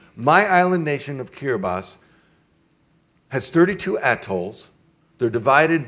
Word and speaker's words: Kiribati: was typing the name, his typewriter didn't have a T and an I, so he put an S instead. And so it's pronounced Kiribati.